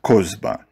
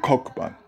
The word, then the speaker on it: Kozba: After this formidable defeat, they themselves called Kokhba their lost messiah, Kozba, which rhymes with it and has a similar ring. For thus write their Talmudists, you must not read Kokhba, but Kozba.